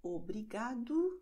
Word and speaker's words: obrigado: Und O am Wortende wird als U ausgesprochen. Das heißt, obrigado, como, logo.